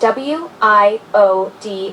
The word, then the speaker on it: WIOD: When referring to radio station call letters, we typically pronounce each letter separately. For example, wide would be pronounced WIOD and WINZ would be WINZ.